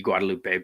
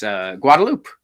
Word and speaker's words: Guadeloupe: In Guadeloupe, actually, in Spanish you'd pronounce the E Guadeloupe, but since it's French, Since it's French, it's Guadeloupe.